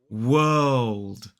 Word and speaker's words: world: an all sound so we make this W uh old D World world don't try to make the light L don't try to make that L because it won't work it'll sound like world and that's not right world and this word